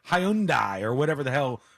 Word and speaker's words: Hyundai: Porsche or Porsche when Hyundai had this problem they did an entire ad campaign and they said Hyundai like Sunday Hyundai like Sunday and